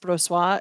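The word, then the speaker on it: Brossoit: for our third star we have uh Lauren brassois who's a goalie for the Vegas golden knights and if it's not pronounced bro sois you're a liar because that's a French Canadian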